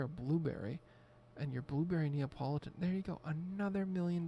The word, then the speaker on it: Neapolitan: how many people used to call it Napoleon ice cream cuz I got my hand up right now I was I was that guy could not pronounce or refused to just open my eyes and properly read the word Neapolitan ice cream I wonder what